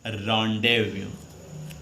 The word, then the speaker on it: rendezvous: Pronunciation कुछ निकला आपके दिमाग में, इसको पढ़ेंगे रॉन्डेव्यू। क्या पढ़ेंगे, रॉन्डेव्यू।